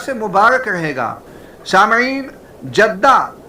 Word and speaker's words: جدہ: ساتھ ہی پڑھتے ہیں، اگر جیم کے زیر کے ساتھ جدہ پڑھیں تو معنی ہوگا برکت اور سعادت۔ یہ علاقہ برکتوں اور سعادتوں والا ہے، لہذا یہ تلفظ بھی درست معلوم ہوتا ہے۔ میں نے سعودی عرب میں جیم کے کسرے کا ہی استعمال دیکھا، جیسا کہ انگریزی رسم الخط